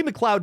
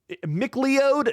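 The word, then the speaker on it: McLeod: Um, and it's the adaptation of Clay Mloud's Clay Mloud Chaplain. I just had to look that up because I'm like, how do you pronounce that that middle word there? Miklo. No, Mloud.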